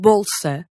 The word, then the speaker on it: bolsa: At the beginning of a syllable after a consonant. Like in bolsa.